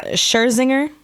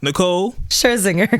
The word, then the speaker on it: Nicole Scherzinger: Somebody pronounce her name for me. Nicole Swisher. I gotta look at her name real quick. It's Swisher. It's something. I don't know. Anyway, Scherzinger. Okay, that sounds good. So whenever it's time to say her name, we'll point to you. So look, Nicole Scherzinger. There we go.